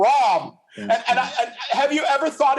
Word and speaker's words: Ram: First of all, as a Hare Krishna, I think the name should be pronounced Ram. Ram.